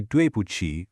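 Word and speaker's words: 对不起: You say duchi which means sorry. Quick pronunciation tip so you don't trip up. That Q in pinion actually sounds like a sharp chuchi.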